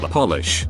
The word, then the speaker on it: polish: top of your head a capitanum is word that changes its meaning and sometimes its pronunciation when capitalized polish to make shine polish